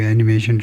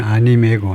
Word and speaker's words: anime: 애니메 아니고 애니메이라고 발음하네요. 애니메. 일본식 발음은 아니메고 아니메, 영어로는 애니메이. 애니메이라고 발음한다 이거네요. 애니메이. 애니메이가 맞네요. 애니메이. 예, 그것이 일본 영어식 발음이 애니메이네요.